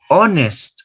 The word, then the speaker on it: honest: heir an honorable idea notice that this word starts with the letter h silent letter so you start with a vowel sound hour no digo hour you go hour honest no digo honest honest